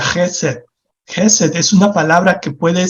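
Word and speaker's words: חסד: en el idioma hebreo en el Antiguo hebreo que se pronuncia gesell es una palabra que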